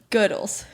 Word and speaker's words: Goodles: I said, I mean, I really like this like Goodles one. Yeah. Is that how you say it? Goodles? Goodles? Yeah. It's probably Goodles. Because that would rhyme with noodles.